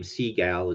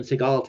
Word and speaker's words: Seagal: I'm assuming it's Seagal although saying his name Seagal is kind of funny it's spelled s-e-a-g-a-l so Seagal uh but Steven Seagal